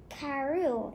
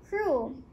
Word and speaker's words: Crewe: They pronounced it Carew instead of Crew.